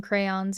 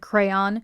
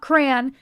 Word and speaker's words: crayon: just broke up some crayons and added them into it to color it. Yes, I said crayon. It's not crayon. It's not crown. It is crayon. Look at how it is spelt.